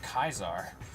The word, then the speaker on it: Caesar: C Sound and then AI is an i sound or AE is an i sound which I then just thought thought that through and I was like wait that means that Caesar is actually pronounced kaisar like so you know I